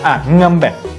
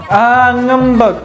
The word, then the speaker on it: ngambek: Ngambek. Okay, it's because that one. Right, because sometimes the E is not pronounced like E. It's more of a neutral sound.